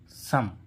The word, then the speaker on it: some: ठीक है, वो ठीक है, लेकिन कुछ शब्द इस नियम के अपवाद ही होते हैं, जैसे SOME, सम।